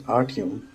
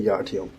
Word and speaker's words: Artyom: Hi, my name is Artyom. The Y is silent, but you can just call me Yartyom.